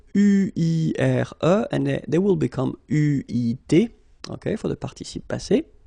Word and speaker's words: eu: Okay, but you will have to pronounce it u.